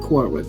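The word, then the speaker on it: Quora: I believe it's pronounced Kora. Qu U O R A.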